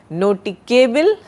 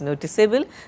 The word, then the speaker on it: noticeable: If you want to say noticable, then you have to eliminate E, but the pronunciation is definitely not noticable, it is noticeable.